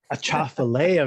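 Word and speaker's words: Atchafalaya: Tell us again, Karl, how you pronounce it. A Chafalea Man.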